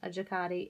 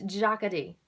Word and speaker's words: Jacadi: pink sweater that goes with this at some jacadi and actually i've been mispronouncing the name of this store for as long as I've been sharing clothes with you guys it's Jocketty Jocketty i think is how they pronounce it um